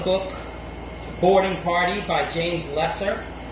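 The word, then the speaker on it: Leasor: The Seawolves is a 1980 war film by Panavision, based on the book Boarding Party by James Lesser. It's spelled Lesor, but the British pronounce it Lesser.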